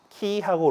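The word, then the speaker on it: Χ: 단어의 첫 두 글자 키하고 로다 아 그왜 우리또 미국의 영향이 많아 가지고이 키라고 안읽고 카이라고 이제 수학 시간에 배우기도 하는데 예 그 같은 말입니다네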